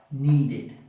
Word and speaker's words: needed: Entonces, los que terminan en D o en T van a ser id.